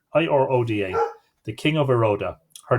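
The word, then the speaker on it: Iruaidhe: And the hound whelp I claim is the hound whelp of the king of Iroda. It's good. It's I-O or U-A-I-D-H-E, but there's a pronunciation guide, I-R-O-D-A.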